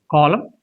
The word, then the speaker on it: column: So when you have MN in the words like atom, column and him, this N becomes silent.